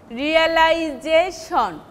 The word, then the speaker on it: realization: So, any syllable before shon will be stress, we will take primary stress. Imitation, realization, that J-shon will be, though in case of